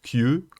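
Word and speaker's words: 究: Ce qui est intéressant, c'est que ça se prononce Kyu, comme le 9, 9 qui se prononce Kyu.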